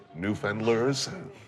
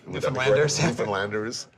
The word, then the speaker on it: Newfoundlanders: What's changed as far as the way that I'm going to try to pronounce it correctly. New fenderslersanders. Newfoundlanders uh see themselves.